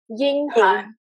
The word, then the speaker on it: Ying Han: In Chinese, it's Ying Han. It's like Ying Han, Xing the Ying Han Yang the Han.